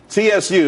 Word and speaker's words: Tsu: Tsu, TSU. It's pronounced Tsu though.